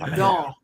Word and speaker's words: dents: No, don. Don. Don't pronounce the T.